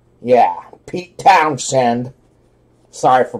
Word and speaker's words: Pete Townshend: you pronounce the town said found said yeah pete townshend sorry for pronouncing it wrong the real me alright neon